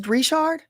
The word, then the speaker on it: Richard: Somebody said that is actually how you pronounce is Rishard.